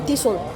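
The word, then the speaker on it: Thistle: I don't own Tissol. Tissol is Tissol, T-H-I-S-T-L-E. Tissol. But Tissol is a Tissol pronunciation in English.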